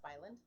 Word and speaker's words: Spy Island: It's pronounced Spyland.